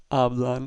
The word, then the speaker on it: hablan: Therefore, instead of hablan, it's hablan with the stress on the first syllable.